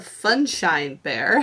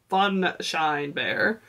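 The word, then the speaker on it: Funshine Bear: then we have a sunshine bear now that i can say it properly fun shine bear i always thought it was called sunshine bear from when i was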